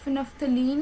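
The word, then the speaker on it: phenolphthalein: यहाँ पर ना उर्दू में मिस्टेकली ऐसे लिखा हुआ, आई थिंक सो, क्योंकि इसकी प्रोनाउंसिएशन तो फिनेफ्थलीन ही बनती है।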